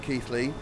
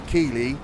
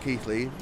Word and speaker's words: Keighley: So, my granddad is from Keighley. And the fact I pronounced that correctly, you should actually know that that's actually where he's from. Because most Southerners would say Keighley, not Keighley.